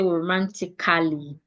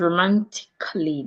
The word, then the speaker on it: romantically: Letter A are usually silent in words that ends in A-L-L-Y. So if you have a word like romantically, so we'll not say romantically. It becomes romantically.